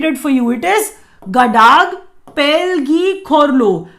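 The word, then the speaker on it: Ngadag Pel gi Khorlo: It is Gadag Pelgi Khorlo. Gadag Pelgi Khorlo, that's how Bhutanese pronounce this award.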